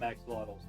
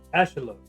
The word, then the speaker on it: axolotl: Um and that in that language it is more accurate to pronounce it as uh ash-uh-lo. Uh although they there's an actual like there's a sound the tl at the end makes a specific sound that I as someone